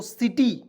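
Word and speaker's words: city: वाई इसे पढ़ेंगे दोस्तों सिटी सी आई टी वाई सिटी means क्या होता है शहर देखिए सी का उच्चारण स के रूप में हुआ कि नहीं बिल्कुल हो गया चलिए अब देखिए रूल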